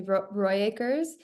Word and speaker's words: Rooyakkers: would say Rooyakkers.